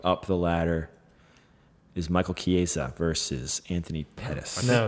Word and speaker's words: Chiesa: You pronounced the last name right. I've been practicing Michael all day. Chiesa. I All think day. that is right. Now he's I say Chiesa.